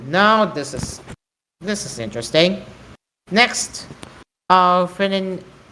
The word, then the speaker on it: phenylephrine: How do I pronounce this? Phenylephrine. Phenylephrine.